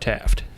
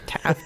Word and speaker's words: Taft: to pick William Howard Taft. Ah. Yes. The only president to serve both as president and chief justice. And get stuck in a tub. And get stuck in a tub. Taft rhymes with draft.